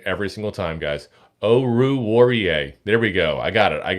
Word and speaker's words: Oruwariye: Oh, I'm gonna mispronounce that name every single time, guys. Oruwariye.